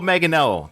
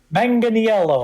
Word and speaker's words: Manganiello: Ninth, and I had to get this guy's pronunciation of his last name. Joe Manganiello. Did I get that right? Manganiello.